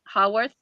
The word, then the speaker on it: Haworth: Is it Hayworth? Is that how you say it? Haworth.